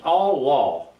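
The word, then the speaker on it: עָלָה: The Hebrew for ascend is Allah, and it's pronounced Allah, A-W-L-A-W, that's the way it's pronounced, has various meanings figuratively and literally.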